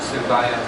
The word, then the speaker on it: Suvayas: It's actually pronounced Suvayas.